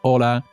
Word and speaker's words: hola: gottitas de agua enda remember the h in spanish is always on strike you never pronounce an h you need to write it okay hola chavales hola is with an h or favor gracias continuamos